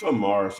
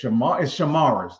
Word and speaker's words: Shamaris: I thought it was Samaras or something like that one. Yeah, it's Shamaris. That's what it is.